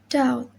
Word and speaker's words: doubt: B is usually not pronounced before T at the end of a word. Example: dead, doubt, debtor, doubtful, and subtle.